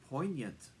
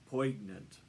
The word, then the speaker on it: poignant: I need to inform you that poignant is pronounced poignant not poignant he was very embarrassed however much to his